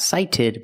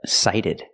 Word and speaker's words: sighted: The T is a fast D, not sighted, but sighted.